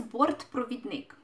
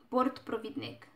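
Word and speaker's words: бортпровідник: for flight attendant is the correct way to say it is board prophet Nick port prophet Nick complicated one to say but very commonly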